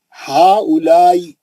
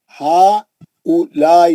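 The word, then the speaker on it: هؤلاء: की असल क्या है हा उलाई हा उलाई ये वा साइलेंट आया हा उलाई कलमे की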